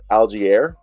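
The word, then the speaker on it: Allgeier: moved the ball a bit better also Tyler algiere right is how you say his name thousand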